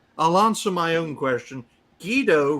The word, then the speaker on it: Guido: Guido rhymes with pedo.